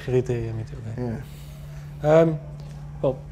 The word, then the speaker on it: RIITIIR: I pronounce it as RIITIIR. RIITIIR, me too.